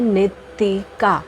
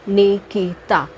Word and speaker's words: Nitika: जी हाँ, नाम है नितिका, नॉट निकिता। बहुत लोग इसे मिसप्रोनाउंस करते हैं, ये निकिता नहीं है, नितिका है।